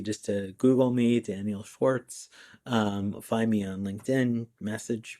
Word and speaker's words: Schwarcz: It's Schwarc, as in cat, Z. Even though it's pronounced Schwartz, it's spelled Schwarcz. That makes it very easy just to Google me, Daniel Schwartz.